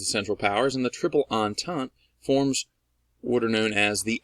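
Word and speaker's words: Entente: you pronounce that word a lot of people think it's like intent or intent a it's not it's on tongue I even gave you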